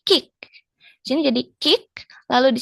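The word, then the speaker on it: 식: Nah, seperti di aturan bacim sebelumnya, giok saat menjadi bacim dia dibacanya K ya. Dibacanya K bukan G. Jadi bukan kig tapi kick.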